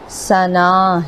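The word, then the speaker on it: ثناء: لفظ ثنا کو دیکھیں، اس کی پروناؤنسیشن یا اس کا اصل تلفظ ثنا ہے، جسے ہم ثنا کہتے ہیں، نام بھی رکھا جاتا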